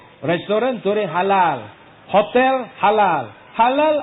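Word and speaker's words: حلال: Halal ada ejaannya. Ha, lam, alif, lam. Halalun. Ada peniaga tipu. Dia tak taruh sijil halal. Hulul. Ha, lam, lam. Hulul. Hulul itu memang bukan halal.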